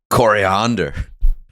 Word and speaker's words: coriander: i missed it sorry idiot coriander that's how you say it dude that's how